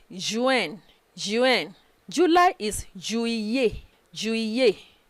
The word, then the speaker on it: juillet: July is juillet, juillet. Don't pronounce it juillet o. Juillet. Again, juillet. Again, juillet.